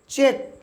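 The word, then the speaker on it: cheque: দিলে বুঝতে পারবেন সি এইচই দেখুন কিউ ইউ উচ্চারণ হচ্ছে ভিউয়ারস চেক চে কিস্তি বা হুন্ডি তারপর দেখুন বি এ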